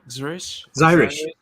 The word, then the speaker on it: Xirish: How do you pronounce it? Xirish? Zyrish.